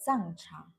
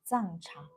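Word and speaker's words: 藏茶: Uh, we in Chinese call it Zang cha. Zang cha.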